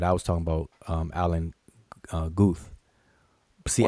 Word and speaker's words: Guth: I think it's let me see, Gut. I want to say, Guth. Sorry, I'm saying Gut. Man, I butchered my man's name.